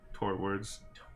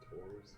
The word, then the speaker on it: towards: Torwards. Torwards? Towards? I know that's not how you pronounce it, but I mean, like, there's no R.